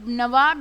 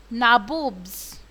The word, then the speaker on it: nawab: the indian con that the britishers cannot pronounce many words and nawab is one of them so to call that so they mean to be as nawab but they can't pronounce the word and so they are called naboobs how did cliff see himself